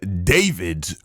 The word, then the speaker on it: D4vd: Dead body found in David's car. Now, it's D4 VD is how it's spelled. I think he just goes by David, though.